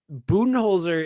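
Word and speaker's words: Budenholzer: this so this is a strange one um buttonholzer is how i've always been told to pronounce his last name but everyone calls him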